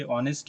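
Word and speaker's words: honest: तो देखिए यहां पे एच जो है एच आपका यहां पे ऑनेस्ट में क्या होता है? एच साइलेंट होता है।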